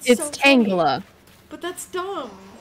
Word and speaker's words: Tangela: things craft things Angela it's not Tangela it's not you're gonna kick your little game why are you saying Angela like it's my name but worst yeah exactly that's why that's how it's always pronounced it apparently it is it is but it's it's it's tangler but that's dumb like